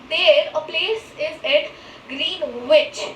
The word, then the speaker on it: Greenwich: a place is at Greenwich. It is not Greenwich. Here you can see the spelling is Greenwich. Greenwich, right? But it is spelled as Greenwich with an accent of Greenwich.